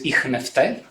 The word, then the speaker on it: Ichneutai: The title, yes, is Voicing Unacoustics in Sophocles's - I will call this Ichneutai [modern Greek pronunciation] - and I want to be talking about this play, which is Trackers by Sophocles.